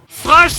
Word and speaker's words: Thrash: Oh, before that I must go through a very important point : THRASH TAKES A FUCKING "H" !!! This point. It's not "Trash Metal", it's "Thrash Metal" A lot of people